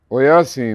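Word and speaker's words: Oyasin: Now the last word, 3 syllables. O, ya, si, oyasi.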